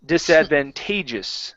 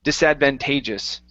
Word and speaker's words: disadvantageous: you go okay um here our stress is disadvantageous so it's at the towards the end of it disadvantageous disadvantageous good good okay